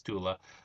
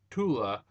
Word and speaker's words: Tula: I think it's Tula, who was the original Aqua Girl.